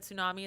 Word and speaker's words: tsunami: already know this but tsunami is spelled with a t i did not know